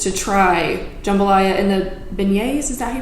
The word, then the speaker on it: beignets: new orleans just to try jambalaya in the beignets is that he pronounced that yep but yes those two things